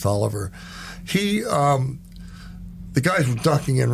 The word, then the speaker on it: Taliaferro: Or as some people say, Taliaferro, right? But it's Tolliver, pronounced Tolliver.